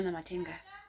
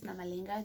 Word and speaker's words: Namalenga: My surname is Namalenga." This man mispronounced it, or like he didn't see properly and he read it as Namatenga.